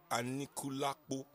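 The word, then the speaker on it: Anikulapo: Seun, please, you need to teach me how to pronounce the Anikulakpo. Is it Anikulakpo or Anikulakpo? It's Anikulakpo.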